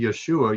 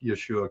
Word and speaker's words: Yeshu: They would take the ayin and just toss it. They wouldn't pronounce it, just like we have.